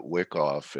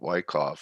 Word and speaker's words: Wyckoff: me because you know i called it wickoff and blake called it wyckoff so now i know the correct pronunciation of it so uh yeah if